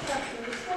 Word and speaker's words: капуста: Ударение падает на слово «куст».